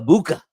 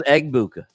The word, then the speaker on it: Egbuka: You think the G is silent? Egbuka? I think it's in fact, I went on YouTube the other day and listened to some calls, and I think the G is silent. I think it's Egbuka, Emeka Egbuka. Speaking of YouTube, we are